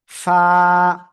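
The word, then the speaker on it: ف: নিচের ঠোঁটের পেট, খেয়াল করেন সবাই আমার দিকে। এই যে নিচের ঠোঁটের পেট, উপরের দুই দাঁতের আগায় লাগাবেন, লাগিয়ে হালকা বাতাস বের করবেন, বের করে আপনার উচ্চারণ করতে হবে। ফা, ফা।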